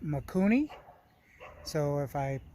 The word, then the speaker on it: Mikuni: So I got the carburetor here in my hand, and they pronounce it Mikuni.